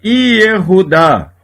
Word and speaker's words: Yehudá: Exemplo de shevá pronunciado. A palavra Yehudá, Judá. No início da palavra, quase sempre o shevá é pronunciado.